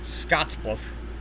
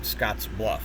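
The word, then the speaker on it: Scottsbluff: Um, other synthesizers will pronounce it Scotsluff, but it's actually pronounced Scotsluff even as one word.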